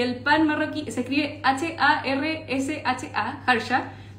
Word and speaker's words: harsha: Y vamos a hacer un pan marroquí que se llama harsha, y el pan marroquí se escribe H-A-R-S-H-A, harsha.